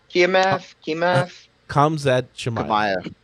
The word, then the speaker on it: Khamzat Chimaev: mill has it that how's his name pronounced? Khamzat Chimaev.